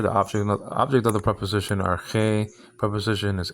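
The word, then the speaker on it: ἀρχή: Arche, nowadays pronounced archi, modern Greek, alpha ro, chi, eta, nowadays called eta, like I said before.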